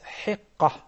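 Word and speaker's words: حقة: started the third then the right pronunciation of the third one is heka three years old and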